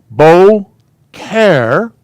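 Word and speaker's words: boker: say it yoda style and that's bo this is a k sound so the the koof is a k sound bo care beau care toph bocare means morning okay 12.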